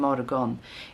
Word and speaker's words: morgon: to say it but in everyday kind of speech you say modern you don't pronounce the G good morning good morning